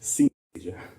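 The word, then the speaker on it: coenesthesia: from 1925, Richards coined a term which looks like it ought to be pronounced synesthesia, but it doesn't look like synesthesia. It's spelled C-O-E-N-E-S. And so it's in fact pronounced synesthesia as opposed to synesthesia.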